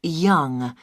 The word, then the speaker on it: Yonge: Yes, it's Young. Young. That's That's spelled Yonge. That's Young.